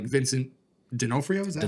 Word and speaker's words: D'Onofrio: I mean, you got like Vincent D'Onofrio. Is that how you say it? D'Onofrio.